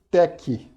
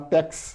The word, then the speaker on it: TeX: ele criou não merece tec essa é uma pronúncia a gente tem tendência a falar tex né mas ele mesmo